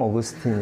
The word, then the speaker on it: 아우구스티누스: 저도 아주 과거에는, 성 아우구스티누스 이렇게만 알았어요. 라틴어 발음이잖아요, 그죠? 영어로 어떻게 뭐라 말하는지 아세요? 그래서 처음에 그쪽 가서 공부를 할때못 알아들었어요. 누군지. 우리 그냥 성 어거스틴 이렇게 한단 말이죠. 세인 어거스틴 이런단 말이죠.